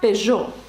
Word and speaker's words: Peugeot: на увазі наприклад марка Peugeot ви бачите після ж стоїть літера и яка не вимовляється вона там стоїть тільки